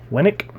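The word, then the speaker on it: Winick: Winnick?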